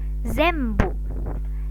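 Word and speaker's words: 全部: Kemudian kingben, ini kan tulisannya kingben, tapi dibacanya kimben, kimben. Kemudian yang ini bimbo, bimbo. Zembu, zembu.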